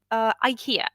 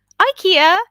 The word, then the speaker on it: IKEA: Even though I do come from Germany, and yeah, people say IKEA here, but IKEA is how the American world says it.